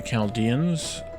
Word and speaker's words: Chaldean: i think it's chaldean it's spelled ch but i think it's a hard ch at least that's how i've heard it said by an actual descendant of the keldians so i'm gonna go